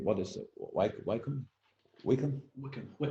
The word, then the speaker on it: Wycombe: I'm neither Wycombe. What is it? Wycombe? Wickham, how you say it, Wickham supporter or Oxford